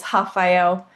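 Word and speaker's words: Rafael: My part, actually, very side note, my partner, his name is Hafael, and the R is obviously silent.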